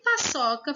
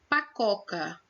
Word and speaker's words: paçoca: E paçoca ficou pacoca. Ou seja, o cedilha é muito importante.